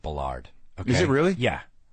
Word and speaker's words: Ballard: It's pronounced Ballard.